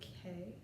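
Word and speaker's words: Key: The working title is The Selkie of Salisbury K, spelled K-E-Y but pronounced K-A-Y.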